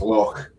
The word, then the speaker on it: loch: She was asked yesterday by an American whether she was pronouncing loch as loch just for the tourists, and we actually say loch when they're not around.